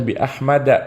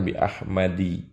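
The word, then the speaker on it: بأحمدَ: Ya, dibacanya bi Ahmada, bukan bi Ahmadi. Apalagi bi Ahmadin. Ya, salah besar karena dia ghairu munsharif, tidak boleh bertanwin.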